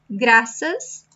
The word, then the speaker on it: graças: So it's a C that sounds like S. That's all you should know. It sounds like S. So graças. It's not like Spanish, you can say gracias, gracias. No, it's graças.